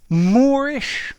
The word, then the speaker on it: moreish: hi there students moorish and moorish okay they're both adjectives and the pronunciation is identical however the meaning is